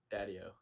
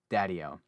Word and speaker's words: Daddio: last name so i don't emphasize the wrong syllables daddyo daddyo for some reason i want to like emphasize